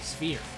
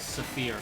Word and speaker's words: sphere: It is a seal, but he is a sphere. I had a math teacher who would pronounce the word sphere as saphir, like they were two separate words.